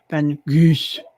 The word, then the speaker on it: Van Gogh: And his name is actually Van Gogh, or as they Oh, would pronounce it there, Van Gogh.